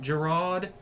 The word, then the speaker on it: Giraud: The next ones through were Ricky Braddy, Matt Giraud.